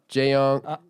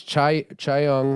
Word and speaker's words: Chaeyoung: Jaeyoung. Is it Jaeyoung? Jaeyoon? J Because it's Chaeyoung.